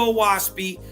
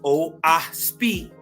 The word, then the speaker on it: Oahspe: Origin of a Waspy with hints to the reader. Right. Oaspi pronounced oasi. Not ocean spray. Not waspy. Uh uh. Ain't no w sound in it. Ain't no o. It's o right.